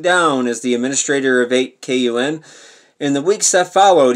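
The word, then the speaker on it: 8kun: Watkins and his father Jim, who owns 8QN, I'm pronouncing 8QN because it's spelled 8, you know, K-U-N, together, the anonymous message board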